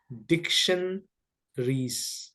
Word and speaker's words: dictionaries: you pronounce it dictionaries we don't we don't pronounce a okay yeah dictionaries dictionaries no a no a yeah you you have to drop a diction re okay there is no